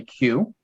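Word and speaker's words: queue: In French, we would say, so in English, you'd say Q. Uh-huh. In French, we would say que. Cool, It's a bit different. cool, Yeah, que. We cool. don't do the U. Exactly. Mhm. But I thought this they pronounced it you, just you. Does it have a Q initial Yeah, sound? yeah, you pronounce the K.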